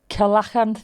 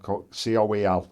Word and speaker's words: coelacanth: um Coelacanth Well, I'll Google it.